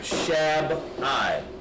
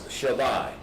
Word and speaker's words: Shabbai: Shabbai, not Shab-I or Shab-I. It's Shabbai. That's the correct way to pronounce it.